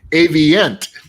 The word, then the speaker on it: Avient: How do you pronounce it? Avient.